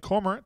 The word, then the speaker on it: Cormorant: Joy D's checking in from Lake Cormorant up in DeSoto County. I even said it right, didn't I? Lake Cormorant. Some people want to say Lake Cormorant or Lake Cormorant. That's not it.